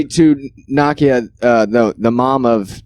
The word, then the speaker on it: Nakia: uh n-a-k-i yeah i i was always saying nokia like the phone but it's like nakia or whatever but it's it's she's